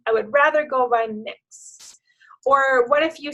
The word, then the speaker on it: Mx: And, well, there might be different ways to pronounce it. Like maybe we could pronounce it mix.